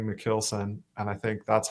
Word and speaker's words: Michielsen: Alexa's over there, but yeah, so I pronounce my name like Michielsen, more like a kill, even though it's actually a Dutch name.